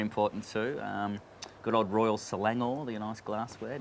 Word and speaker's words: Royal Selangor: bring them right in fastest on the right syllable is very important too um good old royal selangor the nice glassware not raw selangor as i said i think the first show